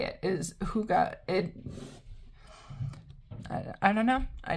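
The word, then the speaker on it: hygge: it says you're supposed to say it is Huga it I don't know I didn't make up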